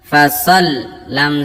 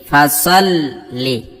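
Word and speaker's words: فَصَلِّ: ফাসাল্লি লিরাব্বিকা ওয়ানহার। ফা জবর ফা, সাদ লাম জবর সল। ফাসাল লাম জের লি। তাসদীদ থাকলে কিন্তু দুইবার উচ্চারণ করতে হবে অক্ষরটাকে।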